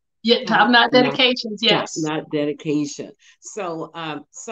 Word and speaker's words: TopKnot DediKations: Yeah, TopKnot DediKations, yes.